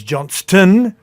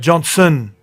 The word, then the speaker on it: Johnston: Joy Arrow, you got Joy Gray, you got Tyrone Monro, Alex Johnston commentators, not Johnson.